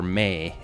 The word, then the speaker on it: MAE: movable audio engine or May m AE and it's pronounced just like may it allows Publishers like